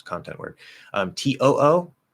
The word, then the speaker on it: too: TOO, that should also always be a T, meaning it also in addition.